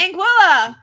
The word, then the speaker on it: Anguilla: alice tucker oh and it rhymes with vanilla so it's in tiga and tilla there's no tea it's anguilla angela but my it's